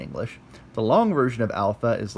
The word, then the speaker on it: alpha: the list you've got alpha alpha is pronounced okay short a like aa like it says there as top now the